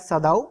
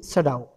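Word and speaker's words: Sadao: फ्यू ऑफ यू मे say that सदाओ, बट इज in English it's pronunciation will be सडाओ.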